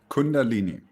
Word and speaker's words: Kundalini: How you pronounce it? Kundalini? Kundalini.